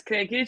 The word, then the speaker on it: Krekic: my name is i don't pronounce my last name because it's really difficult but it's cranky for anyone wants to know um and uh yeah